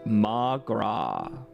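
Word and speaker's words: mo ghrá: Come on, Mogra. Irish for my love. One dialect would pronounce it as Magra.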